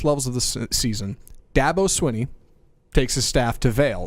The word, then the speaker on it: Swinney: he seconds before this segment started how to pronounce this Dabo Davos Davos Sweeney Swinney that's fine that devil Sweeney Dabo Swinney all